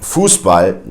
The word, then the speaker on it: Fußball: as an S sound, you'll have the sharp S, which is always pronounced like that. For instance, in words like Fußball, which is soccer or football, if you will.